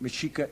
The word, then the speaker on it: Mexica: We are at the great Mexica Empire.